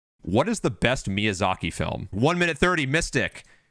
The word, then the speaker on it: Miyazaki: what is the best miyazaku film is that that's how you pronounce it exactly miyazaki miyazaki film okay i'm gonna